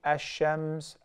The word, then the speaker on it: الشَّمْسِ: In the word shams, you write the lam alif lam shim mim sa. Yet you do not pronounce it. So that's why I say ash-shams, ash-shamsu wal-qamaru bi-husban.